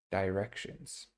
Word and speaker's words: directions: Directions. Okay, directions. Okay, I think it's always important to remember that tion is pronounced as shin, shi.